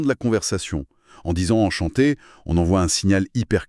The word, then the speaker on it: enchanté: D'ailleurs, le guide insiste sur un détail, la prononciation en chanté avec des syllabes bien égales et un t final qu'on entend mais qui reste doux.